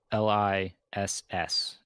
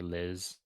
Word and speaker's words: Liss: It's spelled l i s s in the book. It's like Liss or Liz.